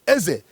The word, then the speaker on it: Eze: If you get there today, you're going to see people who are answering, who has what is called a king, Eze. They pronounce it A-E-Z-E, Eze, in Ibanke, in Edo State.